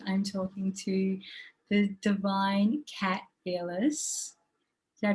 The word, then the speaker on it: Kat Ellis: And today I'm talking to the divine Kat Ellis. Did I pronounce that correctly, Kat?